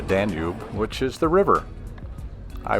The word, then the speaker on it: Danube: the international dunal Fest which in English we pronounce it the Danube which is the river